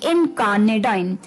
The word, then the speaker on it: incarnadine: तो इसी के साथ जो हमारा 10th वर्ड था इस शाम का, वो था थोड़ा सा अटपटा, जिसकी प्रोनाउंसिएशन थी थोड़ी सी मुश्किल, और वो थी इनकार्नेडाइन।